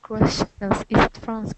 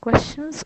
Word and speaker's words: question: the most question question so it's pronounced like um like KW or something question question the tea